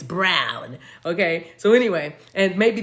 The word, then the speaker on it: Braun: Also, it's spelled B-R-A-U-N. That one. Also the standard or traditional, but B-R-A-U-N is what I'm seeing. I know, and it's not Braun, it's Brown.